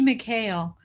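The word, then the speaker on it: Mackaill: actress um let's see her name is dorothy mchale and it's spelled m a c k a i l l and actually if you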